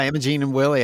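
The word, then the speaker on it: Imogene + Willie: a gene and Willie is that how you pronounce it the guys oh yeah yeah Imogene and Willie Austin he's just in their Austin story that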